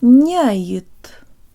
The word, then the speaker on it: няет: Nyayet, nyayet. Not nyayet with the tip of the tongue, but j-tongue lips.